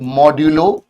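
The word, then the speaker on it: modulo: इसको हम प्रोनाउंस कैसे करते हैं? पहले यह समझते हैं। Read it एज A मॉड्यूलो B है ना?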